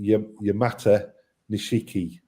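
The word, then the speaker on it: Yamato Nishiki: So Yamatishki if it's one that you'd like to say um I always pronounce it Yamata Nishiki to split it into two.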